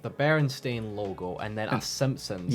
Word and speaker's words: Berenstain: They I- just pronounced it as Berenstein. I think it was Yeah. just a common misread thing that Yeah. people just Yeah, said Berenstein because it sounds better than Uh-huh. Berenstain.